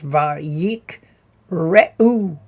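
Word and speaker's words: ויקראו: Just a note here, we've got two shevas in a row. So what that suggests is that the second one becomes a vocal sheva, which means it has a short e sound. So that's why it's va yik re u.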